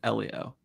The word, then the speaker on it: Elio: I want to say Ilio like Alio Estz but I think it's Elio.